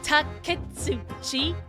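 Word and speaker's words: Auchi: is takui that's takui oh so it is three syllables ai ai that's how it is okay AI the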